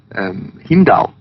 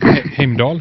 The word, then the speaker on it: Heimdall: I mean, the whole thing of Heimdall, and you can help me with the pronunciation. Heimdall, yes. Yes, Heimdall.